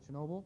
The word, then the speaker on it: Chernobyl: the nuclear accident and Chernobyl right yeah okay Chernobyl yeah I said it wrong before yeah looks